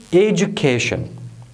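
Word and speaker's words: education: ایجوکیشن. ایجوکیشن معنا تعلیم. ایجوکیشن، ایجوکیشن، ایجوکیشن. هر کله چې مو د کلمو کې ډي یو ولیدل، هغه به په جم باندې تلفظ کوئ.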